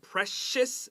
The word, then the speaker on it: precious: All right, look at the word precious. C-I is S-H.